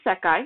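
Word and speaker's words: 世: recognize the country right it's pronounced as yo in this context but it is SEI has no difference in meaning you just you don't say an say it's just the grammar Point yeah oh my God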